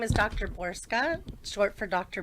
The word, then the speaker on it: Borcsa: It's It's spelled differently, but it's pronounced Borska.